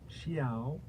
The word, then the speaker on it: XIAO: Xiao. Xiao. Xiao. It's like a meow, but it's a xiao. Xiao. Xiao. Xiaoya. Xiaoya. That's weird. Xiao. Mjolnir? Johnny? Okay. Anyways, Xiao.